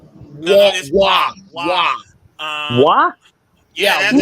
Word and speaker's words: Waugh: Patrick Ward. Waugh. What? Yeah, that's how you pronounce his last name.